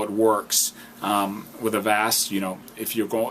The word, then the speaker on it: avast: um best antivirus out there right now is avast and that's spelled as an apple v as in victory